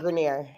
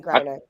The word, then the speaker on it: Griner: It's definitely Griner. For sure, no. Did she become French overnight? Where did you get Grenier? I know. I always thought That's it a was nice way to Grenier. pronounce it, though, but that's not it.